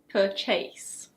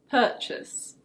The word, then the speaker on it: purchase: It's not "per-CHASE". In British English it's: purchase.